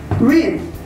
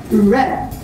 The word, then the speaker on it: read: Number one, the simple and past forms of read have the same spelling, but they are pronounced differently. For simple, that is pronounced as read.